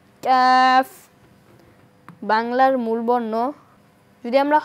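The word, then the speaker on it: كاف: অংশটুকু থাকবে calf calf যদি উচ্চারণের স্থান দেখি তাহলে জিহ্বার গোড়া থেকে একটু আগে বাড়িয়ে তার বরাবর উপরের তালুর সঙ্গে লাগিয়ে কাফ বাংলার মূল বর্ণ যদি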